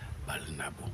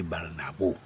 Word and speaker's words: Barnabo: Balnabo. Et le français dit Barnabo. Justement, c'est ce que je dis que c'est le français qui déforme c'est-à-dire la prononciation du nom.